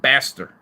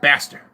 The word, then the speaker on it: Baster: It's Fat Baster. You know, it's like bastard, but you kind of mute the D. It's just Baster. It's a bastard. It's Baster.